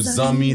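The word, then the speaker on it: zanmi: But Zummy is spelled Z A N M I. Zumi means friend in Creole. Okay. So if you ever hear a Haitian person calling you Zummy, that's a good thing.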